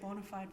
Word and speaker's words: Bonafide: Or is it Bonafide, or Bonafide, how do you pronounce it? I say Bonafide Properties, Okay.